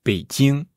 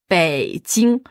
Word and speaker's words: Beijing: Déjà, Pékin, en chinois, c'est Beijing. Beijing. Beijing. Bei, c'est quel ton? 3e ton. Ouais. Jing. Jing. 1er ton. Ouais.